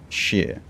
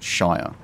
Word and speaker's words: shire: have yorkshire um and most of the the towns and places are sheer like it's not shire so uh interesting to